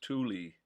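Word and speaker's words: Thule: T H U L E is pronounced Tuli. As far as I know, that's the only way I've ever heard it pronounced. Tuli, not Tul.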